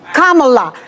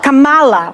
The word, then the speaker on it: Kamala: Let's pronounce this. Kamala. This is not Kamala, which they say on purpose, but that's okay.